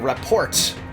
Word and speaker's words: rapport: The T in rapport is silent.